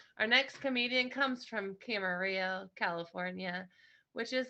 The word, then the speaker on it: Camarillo: I'm from Camarillo. It rhymes.